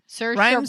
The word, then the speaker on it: Saoirse: Saoirse Ronan. Rhymes with inertia.